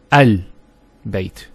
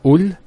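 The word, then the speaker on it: ال: the al of definiteness, that the hamzat al-wasl is always pronounced with a fatha. Not a kasra and not a dhamma. So it's always a, al-bayt, al-qamar, and so on. It's never ul, it's never il.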